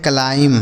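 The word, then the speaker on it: climb: क्लाइंब यहां पे जो बी है यह साइलेंट है। इसे नहीं पढ़ा जाएगा। एम के साथ अगर बी लिखा होता है तो बी साइलेंट होता है। उसे नहीं पढ़ते हैं।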